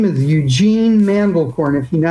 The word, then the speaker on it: Mandelcorn: And to remember the name, the man was the farmer in the Dell and he raised corn.